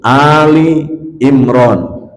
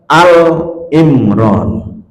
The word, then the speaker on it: Ali Imran: dalam surah Ali Imran bacanya harus Ali Imran Jangan dibaca alimran beda jauh kalau alimran itu nanti alnya kayak altrif namanya lafal itu ada